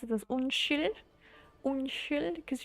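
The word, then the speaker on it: unnskyld: you pronounce it as un un because you don't pronounce the d and the Norwegian rules the S and K become an S sound if there's a y after it so un un it's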